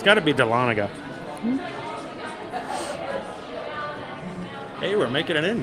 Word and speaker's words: Dahlonega: one cheese tiffany say people not from the area never say dahlonega right they say like talladega uh i said i don't even know how to say it wrong dolla that's how you guess